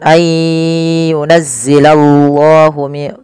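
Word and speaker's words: أَنْ يُنَزِّلَ اللَّهُ: Kemudian ayyunazzilallahu, tebalkan lafal Allah karena di situ lamnya lam tafkhim.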